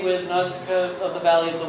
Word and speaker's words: Nausicaa: Miyazaki screwed up Ghibli, so they pronounced it Ghibli. And Nausicaa is the way you did say it. All right, Nausicaa.